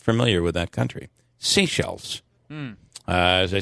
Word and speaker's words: Seychelles: most vaccinated country, which is spelled Seychelles, is pronounced Seychelles. Oh, really? Is the name of the country. I am not familiar with that country. Seychelles.